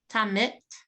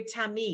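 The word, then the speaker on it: תמיד: It's a D. No. Tamit. No, you had it right the first time, but you had Oh. the wrong last letter. Tamid. Wow. What's the near Tamid?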